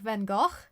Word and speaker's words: Van Gogh: more like Van Gogh. Like Yeah, it it's has a. French. I Sorry, don't know it's- the it's- exact I thing. it's just, usually we pronounce that in French. Sorry.